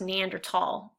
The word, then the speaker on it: Neanderthal: and actually it's pronounced Neanderthal it's a German word and what does it